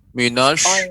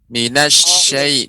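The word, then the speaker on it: الشيطان: pengucapan shin ya, pengucapan huruf shin harus lebih Ya. dimantapkan lagi. Ya. Dia tidak boleh monyong bibirnya, minash tidak boleh, akan tapi Ya. bibir kita datar. Minasyai dibuka.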